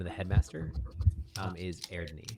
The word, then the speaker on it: Eadni: The name of the headmaster is Erdni. So EADNI, but it's a Sami word. So EAR. So or it's so you say it like Ear. air AIR Ear. slash ni.